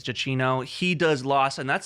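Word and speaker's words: Giacchino: So, Michael Jacino, I think is how you say GCino. I think it's Jacino.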